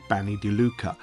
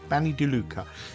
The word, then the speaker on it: Bagni di Lucca: this video is all about a place called Banny deuca I'll spell that for you it's b a g n i new word d d i new word Luca as in Luca l u CCA Banny Duca and it literally translates to the BS of